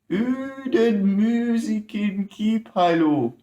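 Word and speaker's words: Uuden Musiikin Kilpailu: And just for the bands, let me pronounce this name. Uden musiikin kilpailu 2021.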